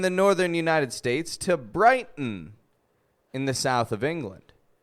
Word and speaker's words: Brighton: So when an unstressed syllable begins with the letter T and ends with the letter N, we will usually make a reduction between the 2 letters and only pronounce the N sound.